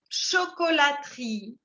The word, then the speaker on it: chocolaterie: vous avez beaucoup de chocolateries. Et la personne qui fabrique qui fabrique le chocolat, on appelle ça un chocolatier. OK? Et donc, on a une chocolaterie. De nuevo, no se pronuncia la primera E.